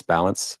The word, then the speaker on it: Ballance: It's Balance. Last name is spelled B A L L A N C E.